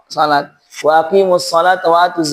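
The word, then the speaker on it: صلاة: Makanya di beberapa kaum muslimin, kalau tidak terbiasa menggunakan mushaf Madinah, bacanya sholawat. Padahal sholat.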